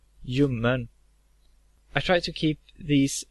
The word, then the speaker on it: ljummen: And lastly, we have the silent L. Ljus, ljud, ljuv, ljummen.